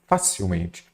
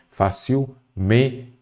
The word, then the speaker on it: facilmente: Facilmente, olha a leitura dessa palavra com acento. Facilmente. Nada disso. A forma correta é o quê? Facilmente. Então, tem o men aqui, é a sílaba forte e não tem acento.